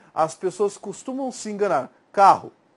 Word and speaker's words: carro: Quando eu falo carro, ó, a sílaba tônica é A, né, o K, e daí a tendência é soar com essa ideia de U, mas é com O, é uma semivogal nesse caso.